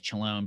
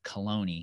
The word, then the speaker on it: Chelone: you said it was, I thought it was Chelone, but it's Cologne. Cologne, yeah.